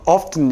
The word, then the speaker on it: often: 근데 T 발음이 있습니다. 영국 애들은 often 이렇게 읽거든요.